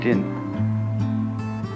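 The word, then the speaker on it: 仁: How do you pronounce that in Japanese? Jin.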